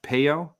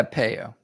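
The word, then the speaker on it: Peyo: you might remember seeing is it pronounced poo yeah peo right po so peo is still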